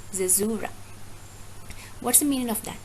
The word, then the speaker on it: caesura: CAESURA. It is pronounced as caesura, right? Zezura.